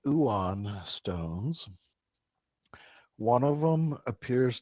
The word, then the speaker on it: ioun: scrolls and I think you said Eon stones, if I'm pronouncing that correctly. Uon. Uon, sorry. Let's have a look here. And it's spelled IOUN.